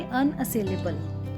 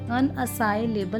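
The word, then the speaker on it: unassailable: आप बोलेंगे अनअसेलेबल, अनअसाइलेबल नहीं बोलेंगे, आप बोलेंगे अनअसेलेबल, अनअसेलेबल।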